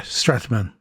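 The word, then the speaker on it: Strautmann: How do you pronounce it? Strataman? Yeah, Strataman.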